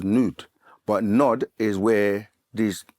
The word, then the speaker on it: Nod: L of Nod um in the language is actually pronounced as nude but nod is where